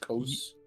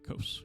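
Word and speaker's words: Kose: it it sounds like the J is silent so it's just Coast yeah Coast yep effectively it's like k-o-s-e I suppose okay who are the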